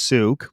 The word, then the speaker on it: Souqh: we put out on social uh spelled s-o-u-q-h pronounced souk but the origin of the name and how